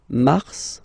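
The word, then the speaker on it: mars: okay then Mar okay so you know way it's an exception because normally final s is not pronounced in French okay we've got some exceptions and this one is one of them so Mar pronounce the final s mar mar okay then ail ail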